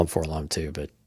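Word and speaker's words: 4-LOM: It's actually for LOM, apparently. No, it's Forlom. It's like ADAT.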